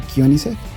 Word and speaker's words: Koenigsegg: que se pregunten este vehículo sueco que nunca lo he escuchado pronunciar bien en ningún canal ni en habla inglés y en español se pronuncia kion el kion es un